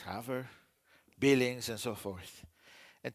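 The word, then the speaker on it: Havre: It's now Haver, it's Haver, Billings, and so forth.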